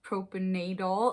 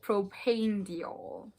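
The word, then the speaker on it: propanediol: my other videos i've been saying it as proper nadal i am so sorry you guys know that i butcher the skin care ingredients on this video but we learn and we grow and that's all that matters so it is called propane diol and the other humectant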